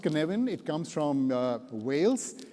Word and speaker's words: Cynefin: It's pronounced Cynefin.